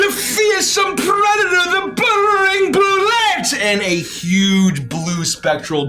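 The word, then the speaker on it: bulette: others that's my joke others who don't know how to pronounce anything call it a boule but that's entirely wrong oh no it's the feier some Predator the buring bullette and a huge blue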